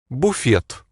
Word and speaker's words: Буфет: So we say buffet, and Russians pronounce it. Буфет.